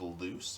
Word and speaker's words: Luz: a teenage human named Luz longs to become a witch with the rebellious Eda and pint-sized Demon King at her Aid uh 43 episodes 43 episodes pretty good that's all nice uh pronounced loose okay oops um Mo